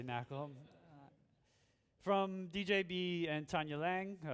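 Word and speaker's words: NaCl: high level knle Library it's actually pronounced salt uh I always say Knack from djb and Tanya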